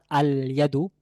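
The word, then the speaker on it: اليد: যদি বলতে চাই হাতটি নির্দিষ্ট একটি হাত, আল ইয়াদু, তাহলে আল ইয়াদু লামটি এখানেও উচ্চারণে আসছে।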